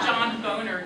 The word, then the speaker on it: Boehner: fact that john boehner is that how we pronounce his name john boner did not actually watch this film and i